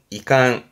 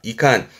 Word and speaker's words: 遺憾: 발음이 이게 우리말로는 유감이라 발음은 이캉, 이캉, 유감이다 그러죠. 그 마음에 있는 그런 섭섭함을 말할 때 유감이다 말할 때 한자가 이 한자, 이칸, 이 감자는 요거면 됩니다.